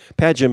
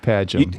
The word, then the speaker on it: Padgham: Padgham is correct. Padgham.